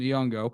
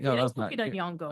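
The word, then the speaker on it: Nyong'o: and you got to forgive me on the pronunciation his name it's uh Lupita yongo that's correct yongo okay there we go so I did it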